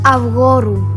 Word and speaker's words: Avgorou: She's really trying with her Greek, but there are still some words she says wrong. It's pronounced Avgorou.